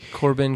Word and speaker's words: Corbijn: believe he's German and I believe I'm mispronouncing his last name but that's how it sounds to me korben korben yeah it's got that weird IJ thing going on but he couldn't